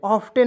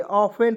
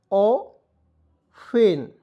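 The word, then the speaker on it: often: ठीक है उसके देखिए ओ एफ टी एन ऑफ्टन नहीं पढ़ेंगे ऑन पढ़ेंगे क्योंकि टी को इसमें साइलेंट र दोस्तों ऑ फेन या ऑन भी पढ़ सकते हैं ठीक है लेकिन ऑफ्टन नहीं पढ़ना है आपको ठीक है य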